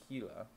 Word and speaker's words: Gila: Although Gila is spelled, it said Gila, even though it's a G, but it's actually J in Spanish.